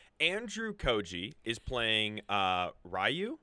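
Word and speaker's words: Ryu: Rayu.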